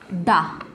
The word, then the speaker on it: the: उनका प्रोनाउंसिएशन हम क्या करेंगे, दा, वहाँ पे क्या करेंगे, दा। ध्यान देना है, कॉन्सोनेंट से स्टार्ट होने वाले नाउन के पहले यदि हमें दा का यूज करना है तो दा प्रोनाउंसिएशन करेंगे। नेक्स्ट है, यदि वोवेल स्टार्टिंग नाउन है तो उनके पहले यदि कोई THE ऐसा लगा है तो इसको हम बोलेंगे दी।